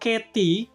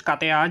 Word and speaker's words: Catea: Jadi, Teman-teman untuk proyek Katy ini kalau kita pakai lidah bahasa Inggris ya teman-teman, jadi bacanya ya katy bukan kta sebenarnya tapi lebih bagus kta aja ya karena kita orang Indonesia bacanya begitu.